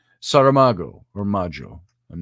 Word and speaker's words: Saramago: been saying it wrong sarah mango i've been saying i don't know where i picked up the n saramago or module i'm not